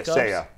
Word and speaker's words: Seiya: 84, Seiya Suzuki. Did I pronounce it right? Yeah, Seiya. Say you, say me.